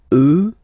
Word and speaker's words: eux: get the sound remember, final X not pronounced, and then plural elle, elle. Okay, so let's see them one more time. Moi, toi, lui, elle, nous, vous, eux, elle.